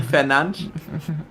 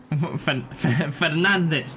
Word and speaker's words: Fernandes: Is it because he's Portuguese, so it's pronounced Yeah. differently? I'm 99% sure you pronounce it Fernandes.